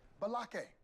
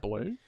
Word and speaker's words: Blake: Balake. Balake. Where is Balake at? Oh my gosh. No Balake here today. Do you Yes, mean sir. Blake?